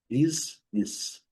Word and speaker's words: business: Business. Business. A pronúncia é rigorosamente igual, tanto no inglês britânico como no inglês americano.